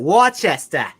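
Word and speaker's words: Worcester: met somebody from wer they called it Wester they were from Wester Massachusetts I'm from Wester massachus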